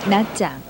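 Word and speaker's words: Nha Trang: 영어 발음 나트랑이라는 이름으로 잘 알려진 낮장.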